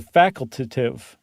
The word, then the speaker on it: facultative: The ones that you can't count on at all are the facultative migrants. And I said it right. I didn't just add an extra syllable.